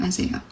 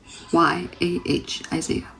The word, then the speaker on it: Isayah: So I'm like, that's the name Isaiah. So the way I spell it is Isayah, Isaiah. The way you're supposed to pronounce it, that's how I'm going